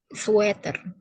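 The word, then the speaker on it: sweater: juga sweer ya sweer bacanyaer bukanerk di Indonesia udah terbiasa ngomongnya ser tapi yang benar caranya bacanya sater Suer lebih ke e suater suater suater sama kayak bahasa-bahasa yang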